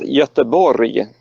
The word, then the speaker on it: Göteborg: you pronounce that locally Gothenburg in Swedish is yester Borya the locals like to